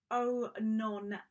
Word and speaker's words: Oenone: on an artist called it's really tricky to pronounce but it's oh no hammersly so she was a